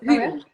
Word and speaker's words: Hulu: And it's Hulu, not Hula.